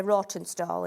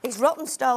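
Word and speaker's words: Rawtenstall: I always say Rottenstall, and he says it's not. A Rottenstall? Rottenstall, that's it. He always says it's not pronounced like that, Sheila. It's Rottenstall. I'm like, nobody's got a W in there, so it's raw for me.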